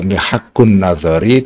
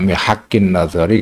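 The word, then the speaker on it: محك النظر: Bacanya kita Mihaqqun Nazari, tidak Mihaqqin Nazari, karena i'rabnya lil hikayah ya.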